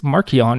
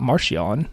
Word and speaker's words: Marchion: in my brain like i guess it's marchionne and not martial but whatever i gotta